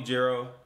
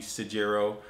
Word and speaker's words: Sajiro: me hero call me Giro whatever you feel like calling me don't call me no dumb do not call me sajiro don't pronounce the s in my name just don't do that